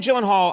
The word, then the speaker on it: Gyllenhaal: name is it not it is a Swedish name so shouldn't it be like oh my God I have the only two places that that is pronounced correctly my last name like you did just now is in Sweden uhhuh and in Ikea Ikea okay in the